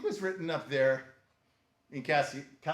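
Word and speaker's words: Cassiciacum: written up there in Cassiacum. Why do I mispronounce that? It's Cassiacum. Cassiacum.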